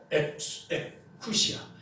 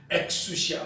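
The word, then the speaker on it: ἐξουσία: 그래서 에쿠시아, 엑수시아 뭐 이렇게 발음을 하는데 의미는 본질에서 나온, 본질로부터 발생된 이런 의미가 되는 것이죠.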